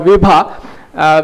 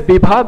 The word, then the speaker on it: Bibha: So Bibha is actually, in Sanskrit, it would be called Vibha, which means very bright and sparkling. But the pronunciation here is Bibha because it's also a